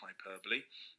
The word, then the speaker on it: hyperbole: which means over exaggeration notice it's spent spelt hyperbole but pronounced hyperbole f is for facts